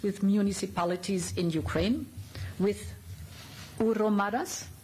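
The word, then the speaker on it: hromadas: Almost 1,000 smaller towns in the European Union have partnerships with municipalities in Ukraine, with Uromadas, correct? Good pronunciation, very good.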